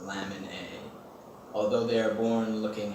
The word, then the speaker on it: LMNA: HGPS is caused by a mutation in the gene called LMNA, pronounced lamin A.